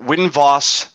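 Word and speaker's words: Winvos: space yes i'm sorry is it win vos bass or winvo space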